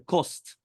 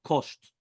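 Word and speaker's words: קוסט: Here it says the Kost with a Samech, right? Not Kosht or HaKosht.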